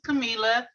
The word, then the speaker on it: Camila: um my name is camila um i usually tell people if you think it in spanish it's pretty you know simple to say because i is like an e um i'm from inglewood